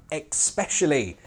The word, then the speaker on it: especially: And I especially get annoyed at especially. Where are these X's coming from?